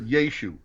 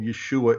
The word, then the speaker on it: Yeshu: okay um and therefore they'd have just said yeshu so even if they wrote it with an iron they wouldn't have pronounced the ion in aramaic which means that that's the language of the day and jesus probably was never called yeshua in his life that's just grammatically and hebraically wrong and it bothers me